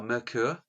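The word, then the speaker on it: Myrkur: it just means folk songs how do you spell that um uh her name or or the album add the band name m-y-k-u-r merkur okay just writing it down it means darkness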